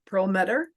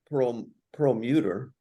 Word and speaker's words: Prelmuter: And now I would like to welcome Rabbi Prelmuter.